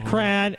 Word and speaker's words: Quran: I will read the Quran. Is that how you say it?